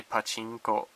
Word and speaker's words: pachinko: But you're supposed to say pachinko, and if you don't say it right, they chuckle.